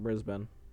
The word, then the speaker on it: Brisbane: Brisbane. I think that's how you say it. Brisbane is how you pronounce it.